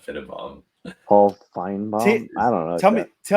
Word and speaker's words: Finebaum: I don't know why you're calling him Finnenbaum. Sorry, he probably heard me mispronounce his name. It's Paul Finebaum.